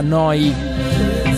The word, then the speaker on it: Neu: Si scrive Neu, si pronuncia Noi, vuol dire nuova, nuova emittente urbana, live da Bologna, 7 giorni su 7.